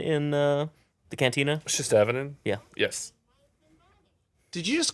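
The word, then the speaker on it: Shistavanen: We see Shustaban in the cantina? Shistavinin? Yeah. Yes. Did you just correct him on the pronunciation of a species? Yeah. Nerd alert! It wasn't a pronunciation. He dropped a syllable.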